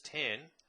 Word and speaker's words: tan: pronounced sine cosine pronounced cos and tangent present pronounced as 10 are given by this so sine ratio cosine